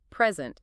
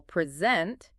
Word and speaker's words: present: If we stress the first syllable, present, it's a noun, meaning a gift. Oh, I see. But if we stress the second syllable, present, it becomes a verb.